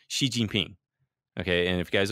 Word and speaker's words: Xi Jinping: pronounce it but and the X ound is not an SH sound but you could just say she like he she Xi Jinping you know that would sound a lot better than an GGP come on he's on